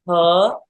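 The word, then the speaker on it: 呵: we have the sound H and this is for the heart so it's like H like as in her so just the first part of her without the r so H and how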